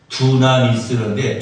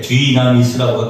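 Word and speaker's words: δύναμις: 두나미스인데, 뒤나미스라고 발음해도 돼요.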